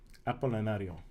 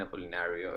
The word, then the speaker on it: Apolinario: Where's the accent on the last? In Spanish would be Apolinario. Apolinario. Okay. Uh-huh. All right. But I'm used to Apolinario.